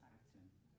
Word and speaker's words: Akten: Your last name is, do you pronounce, how do you pronounce it? Akten. Akten. Akten.